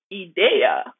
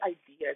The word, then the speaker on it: idea: But then again, so we went back and forth and I realized I was pronouncing it in French and she was right and I was wrong.